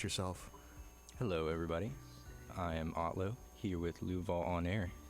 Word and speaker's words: Otlo: hello and introduce yourself hello everybody I am otlo here with loua on air nice to be here you pronounced it right A lot of people don't